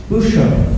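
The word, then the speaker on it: Bouchout: kids, so they got her another castle called Bucho, that's how you say it.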